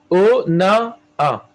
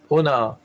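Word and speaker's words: אונאה: O-na-a. Pas Ha. Parce qu'il y a Aleph. O-na-a. Le He de la fin, on ne le prononce pas.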